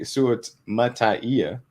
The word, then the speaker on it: Suamataia: Kingsley Suamataia, because you got to have the extra syllable at the end. So it's syllable at the end. That's how he said it was.